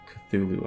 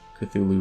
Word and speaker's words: Cthulhu: I used to pronounce it, I said this before, Cthulhu, but I really liked... I think it's Cthulhu.